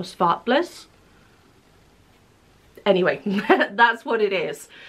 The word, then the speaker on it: Zwartbles: 10% Zwobbles. I don't think it's pronounced like that. I'm pretty sure it's pronounced Zwartbles or Svartbliss.